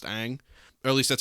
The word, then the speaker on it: Ng: the marlins their new gm uh kim kim aang i believe is how you say it forgive me if i if i said it wrong it's spelled uh kim and then ng it's pronounced aang at least that's how i've heard the the